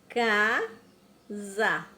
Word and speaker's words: casa: Casa. Olha o sonzinho do S. Tem um som de Z, né?